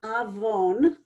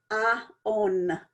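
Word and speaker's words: עווון: to reading Hebrew, that it's very common when people see this word to read aon as two syllables, a and then on. Now, this is incorrect.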